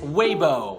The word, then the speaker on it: Weibo: we boy human muck believe it or not is Weibo Weibo go go go